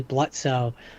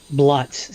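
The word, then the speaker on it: Blitzø: of get past early blutzo bluts sorry the O is silent um that's that's uh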